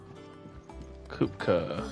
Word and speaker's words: Kupka: Kupka, that's how you say his name.